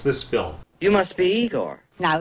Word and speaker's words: Igor: hilarious he steals this film you must be igor now it's pronounced igor but they told me it was igor well they were wrong then weren't they okay